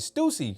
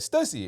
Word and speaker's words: Stussy: name the first time and I remember even pronouncing it Stacey cuz I was like I've seen this brand before. I'm pretty sure it's pronounced Stucy. And then somebody corrected me. It was like Stussy.